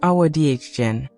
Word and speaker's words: Awadagin: Awadagin, pronounced Awadagin, was born in 1965, a child of curious, watchful eyes.